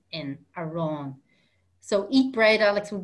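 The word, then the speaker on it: arán: good morning so the word for bread is a wrong a wrong ar a with an accent and a ron so eat bread alex would be a ron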